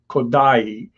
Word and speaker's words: Kodály: thing we should do is learn how to pronounce zoltan kodai uh benedict spelled it correctly it's k-o-d-a with